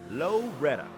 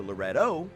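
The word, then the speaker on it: Loretto: Loretta, population 700ish. It's right in the heart of Marian County, and nobody seems to really know how it became Loretta as opposed to Lorettto as it's spelled.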